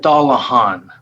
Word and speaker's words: Dallahan: Mayor, it's pronounced just like it's spelled, Dallahan.